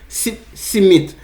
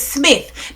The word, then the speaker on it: Smith: Yo, to me, the people them name it sounds Smith. sweet. Me love hear when you have people call it boy. Me can't Simit? catch it properly. Simit. Simit. Simit. Simit, no, it is Smith.